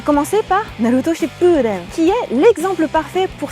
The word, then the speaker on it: Shippuden: Ensuite, Ship, on retient on allonge, Den. Naruto Shippuden.